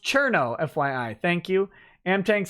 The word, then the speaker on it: Cirno: shhh Chris Nemo says cirno is pronounced chirno fYI thank you and